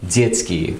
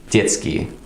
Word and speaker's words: детский: We can take a word like детский, which is spelled d, y, t, s, k, и краткая. Детский, which basically means childish. Now in a word like детский, the t sound is quite short.